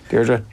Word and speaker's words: Deirdre: Am I pronouncing it the correct Japanese way? Deirdre? Yeah, Deirdre.